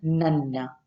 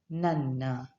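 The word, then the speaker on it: ನನ್ನ: Now, my in Kannada is called as nanna, nanna, and your it's called as ninna or nimma.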